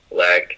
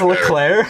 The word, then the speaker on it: Leclerc: Charles Leck, I can't even say his name, man. Are you trying to say Yeah, Charles Leclerc. Leclerc? Leclerc, He's an F1 driver.